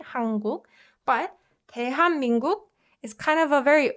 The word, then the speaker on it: 대한민국: And you can see that there are two consonant assimilation happening in these two parts. So like the best way to pronounce it would be 대한민국. This softened to assimilated to as soon as it meets m, right? And this softened to as soon as it meets k.